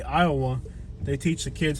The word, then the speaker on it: Iowa: to school in Kentucky instead of teaching me how to pronounce it Iowa they taught me how to pronounce it as luwa because they're trying to pronounce the Lu the same way they pronounce Louisville so instead of teaching